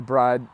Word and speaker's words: Bride: I've also heard that apparently it's pronounced Brid. That's what I've heard. Is yeah, it? Yeah. Okay. Apparently it's pronounced Brid. So I did not know that up until like a month ago.